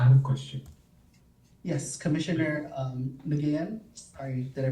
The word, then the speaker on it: Nguyen: Yes, Commissioner Nguyen. Sorry, did I pronounce it right? Oh, Wayne. Win.